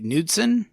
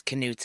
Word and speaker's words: Knutson: canson canson is there is it not just like nudson I know I thought it was too but every person in every interview says canut and even people related to her that have the same last name oh all right they're